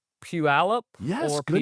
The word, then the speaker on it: Puyallup: want to get to help me pronounce Puyallup Yes. or Good Puyallup.